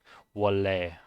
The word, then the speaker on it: 원래: The N gets pronounced as an L or like as an R, and then together with the R following it, it becomes L.